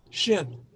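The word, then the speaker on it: שׁ: normal circumstances it means it's pronounced sh shin as in shabbat we'll see there's uh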